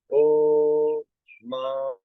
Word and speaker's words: AUM: ठीक है, इसमें तीनों आ, ओ, म। ठीक है, AUM, इट्स अम।